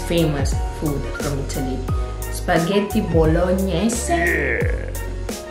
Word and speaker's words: bolognese: Spaghetti bolognese. Bolognese. Is it right to say spaghetti bolognese? No. Nope. Bolognese. You say the last E in the word, bolognese.